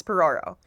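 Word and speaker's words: Phororo: My last name, my maiden name, P H O R O R O. What the hell? Yeah, it's Porro. Phonetically, all wrong.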